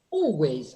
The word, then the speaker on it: always: Bueno, chicos, eso es dark L. Dark L. And what is the mistake that Argentine students make? They pronounce it as a clear L. And they say always, oh.